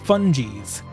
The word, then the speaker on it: Fungies: out they're pronouncing funkies with a hard g i've been saying it fungi's for the past almost year while this intro says fungies it's not even a